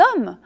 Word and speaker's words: hommes: d'ailleurs avec les héros si le h est mué en revanche comme par exemple dans les hommes là il faut faire la liaison notez bien que les